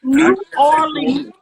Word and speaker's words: New Orleans: New Orleans.